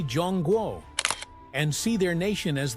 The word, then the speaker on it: Zhongguo: But inside the country, people still say Jong Guo and see their nation as the heart of a long unbroken cultural story.